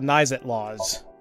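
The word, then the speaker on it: Naixatloz: So, first off, about Nizet Laws. It's spelled N-A-I-X-A-T-L-O-Z.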